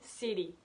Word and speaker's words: city: Par exemple, city, on dit city.